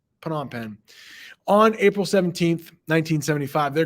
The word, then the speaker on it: Phnom Penh: Rouge occupied cambodia's Capital Phenom Fen Phnom Penh I always say it wrong put on pen put on pen on April 17 1975